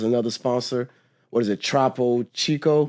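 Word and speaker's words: Topo Chico: sponsor what is it trpo Chico am I saying it correctly correct troo Chico was a sponsor um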